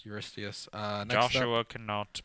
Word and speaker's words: Eurystheus: His name is Eurystheus. Eurystheus. Next Joshua cannot pronounce Eurystheus.